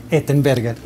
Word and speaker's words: Ettenberger: Ettenberger.